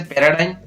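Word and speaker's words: paradigm: और शब्द के अंत में GM हो तो जी का उच्चारण नहीं होता है, जैसे पैराडाइम, क्लेम।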